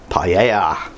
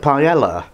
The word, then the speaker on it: paella: absolute classic Spanish dish, paella. So you Brits are thinking, what, is that like paella? And it is, but you know, I'm in Spain, so we have to pronounce it properly.